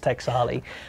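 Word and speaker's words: Taexali: I couldn't spell it for you. T-A-E-X-A-L-I. I think it's Texali.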